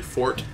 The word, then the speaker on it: forte: fort it's not uh it's not like the musical term although they have the same origin and spelling yeah what I don't